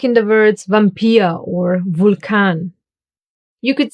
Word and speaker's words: Vampir: But, sometimes, just sometimes, it will be pronounced like the German W. Remember, v. Like in the words Vampir or Vulkan.